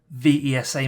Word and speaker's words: VESA: 75 by 75 millimeter vesa mounts or visa amounts depending on how you say it and that's 2.95 inches